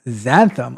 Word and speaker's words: xanthan: It's pronounced xanthan.